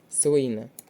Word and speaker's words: слина: запам'ятовуємо це дуже важливі слово слина на перший склад і помовчати на другий